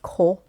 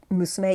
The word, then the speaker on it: 娘: この子を or この娘を usually it would be pronounced ko instead of musume, even though the kanji is musume.